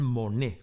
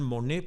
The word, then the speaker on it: Monnet: Data de 1874 y su autor es Claude Monet, con una sola N, que aunque su apellido se pronuncia igual, no tiene ninguna relación con Jean Monnet, con dos Ns, que es el protagonista de mi intervención.